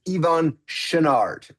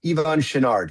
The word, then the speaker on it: Yvon Chouinard: And the way you pronounce the founder of Patagonia's name is Ivon Shinard. Ivon Shinard. He was a French Canadian guy.